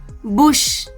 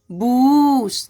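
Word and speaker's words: bush: यहाँ पे इसको बोलेंगे लुक, बुश, ऐसे नहीं पढ़ेंगे लूक, बूस, नहीं, ये गड़बड़ हो जाएगा, क्योंकि ये छोटी यू की मात्रा का उच्चारण है यहाँ पे।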